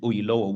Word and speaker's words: Oyelowo: happens to be David Oyelowo, who is a British Nigerian actor, he emphasized that his name could be pronounced by adding an O either side of yellow, Oyelowo, Oyelowo, David Oyelowo.